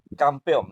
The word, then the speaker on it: campeón: eso resultó ser el campeón, ¿no? O sea, ¿cómo se escribía campeón? Correcto. Muy bien. ¿Por qué? Porque es aguda, ¿no? Campeón, o sea, es la última sila, la más fuerte.